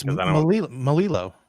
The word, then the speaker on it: Melillo: Melillo. Melillo, that's it. Because Yeah. Melillo. well, sometimes in other languages, when you have 2 L's next to each other, it sounds different. Like it could be Well, Melillo.